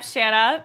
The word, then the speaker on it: Shana: Yeah, and I'm Shana, rhymes with banana.